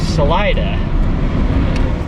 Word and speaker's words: Salida: Soul Craft Brewing in Salida. Apparently it's pronounced Salida.